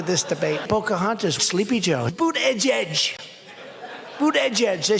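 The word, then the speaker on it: Buttigieg: Pocahontas, Sleepy Joe, boot edge edge. Boot edge edge. They said, think of it as boot and then edge edge, because nobody can pronounce this guy's name.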